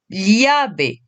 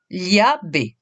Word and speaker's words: llave: Alors, petite indication concernant la lettre L, il s'agit de la prononcer comme si, en français, c'est l'équivalent du L et du I. Li. On va commencer par le mot clé. La, llave. La, llave.